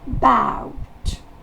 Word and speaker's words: about: Le A va se prononcer E. Et la syllabe accentuée, c'est ow. About.